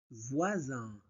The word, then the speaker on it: voisin: Voisin. Voisin. Vois ois ois voix voisin. S entre deux voyelles se prononce Z.